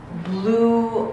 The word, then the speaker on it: blew: Blew out, right? Blew, you, blew out. She blew out the candles. She blew out the candles. This has the same pronunciation as the word blue, the color blue, right?